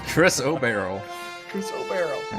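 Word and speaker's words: chrysoberyl: Crystal Barrel so it's Chris obero Chris obero Chris o barrel all right it's like barrel of monkeys but yeah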